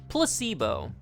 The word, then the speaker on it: placebo: today repeat after me Placebo the stress is on the middle syllable plus Evo Placebo Splendid it's so Charming